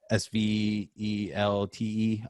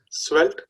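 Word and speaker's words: Svelte: of the problem um it's a s-v-e-l-t-e um it's probably like some ikea pronunciation that that nobody knows what's that swelt it's felt so all right we'll go with that so uh what i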